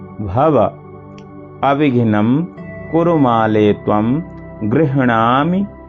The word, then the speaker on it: गृह्णामि: अविघ्नं कुरु माले त्वं गृह्णामि। यहाँ देखिए गृह आधा हा है और पूरा अणा है, तो अणा बड़ा है। गृह पहले हा का उच्चारण होगा, फिर नामि, गृह्णामि दक्षिणे करे जप काले च सिद्ध्यर्थम प्रसीद मम सिद्धये।